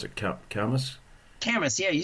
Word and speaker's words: Camas: How do we pronounce it? Camas. Camas, yeah, you said it right.